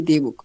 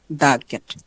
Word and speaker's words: the: সো এই শব্দটার প্রথম অক্ষর যদি কনসোনেন্ট হয়, দা, তখন উচ্চারণ হবে, বুঝছেন? শব্দটার প্রথম অক্ষর যদি কনসোনেন্ট হয় তাহলে হবে দা উচ্চারণ। আর ওই শব্দটার প্রথম অক্ষর যদি বাওয়েল হয়, মানে এ ই আই ও ইউ, এদের যে কোনো একটা হয়, তাহলে আমরা উচ্চারণ করব দি।